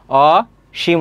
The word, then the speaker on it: অসীম: না এটা পড়ি না অসীম সাধারণ উচ্চারণ সেক্ষেত্রে এখানে তালবস হবে আর উচ্চারণের ক্ষেত্রে দীর্ঘইকারে কোন ব্যবহার নেই সেক্ষেত্রে কি হবে রসকার হবে অশিম হবে তালবস অদ্বিতীয় খেয়াল করো এখানে